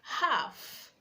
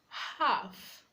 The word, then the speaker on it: half: We have words like half, half, calm, calm, would, should, could. The letter L is silent.